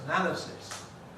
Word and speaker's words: analysis: From the spelling, it might have been analysis or something, but it isn't. It's analysis.